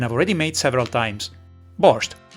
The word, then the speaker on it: борщ: But let's see how to make classic borch which by the way in both Ukrainian and Russian is written and pronounced without the t borch.